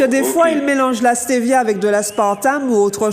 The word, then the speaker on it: stevia: Vous m'avez dit non, stevia, S-T-E-V-I-A. C'est comme ça se prononce, stevia.